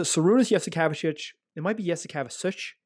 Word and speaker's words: Jasikevičius: It might be Jasikevičius. It might be a softer sound at the end of his name, but Jasikevičius is how I said it when I was younger.